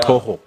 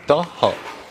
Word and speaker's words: Taha: My name Taha. Yeah. Toho. Yeah, Taha. Antonya bana muri Djibouti mumfashe mu Misiri. Taha. Yeah, right, correct.